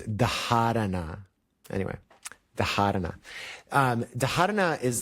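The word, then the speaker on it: dharana: The H is a an aspirated sound that is pronounced even so it's spelled d h a r a n a sometimes you hear people say dana more technically you say it's darana anyway the um dhara is like is is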